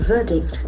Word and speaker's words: verdict: this has got a beautiful pronunciation verdict verdict the middle R silent verdict it's an opinion